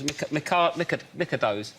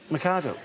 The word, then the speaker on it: Mikado: Those Micados. Mikado.